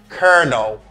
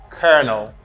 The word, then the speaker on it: colonel: for a lot of people this what is pronounced as konel this Earth sound I don't know you could the air sound back colel repeat after me colonel colonel yeah Colonel the colonel is an important